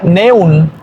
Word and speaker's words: neun: Entonces ya vieron que la E junto con la U cambia por OI, neun.